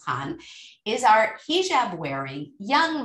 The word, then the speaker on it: Khan: is pronounce it properly that's how the author pronounced it i call it i used to say i said can but it's khan is our hijab wearing young muslim woman 24